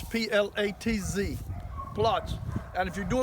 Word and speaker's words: Platz: So he's in what is called a Platz, P-L-A-T-Z, Platz.